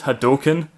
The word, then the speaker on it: Hadouken: have no honor I hate you can it's pronounced Hadouken that's it I challenge you to the most